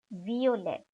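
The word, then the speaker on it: Violett: taken from the english the pronunciation of the v alphabet remains like in the english so it is not violet but violet then pink is ghosa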